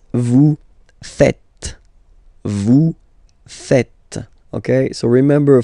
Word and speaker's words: faites: tend to say vous faisez, okay? But then no. It's vous faites, vous faites, okay? So remember, final S here is not pronounced, and then this is not pronounced either. So, faites, faites, vous faites.